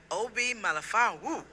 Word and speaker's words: Obi Melifonwu: We are here with NFL player Obi Melifonwu.